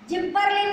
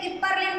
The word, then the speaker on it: gibberellin: जिबरेलिन बोल सकते हैं, गिबरेलिन बोल सकते हैं, दोनों बोलते हैं।